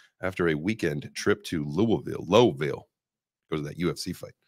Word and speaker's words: Louisville: And then some people say low, like there's a W in there, but it's like Louisville.